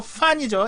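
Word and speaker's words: 饭: 이거 이제 편의점이 아니라 쾌찬집, 중국식 패스트푸드에서 백미판 쌀밥이 판이 아니고 판이죠. F 발음입니다.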